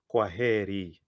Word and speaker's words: kwaheri: It's kwaheri. It's kwaheri. And I want to hear the intonation on H-E. He, kwaheri. Fantastic.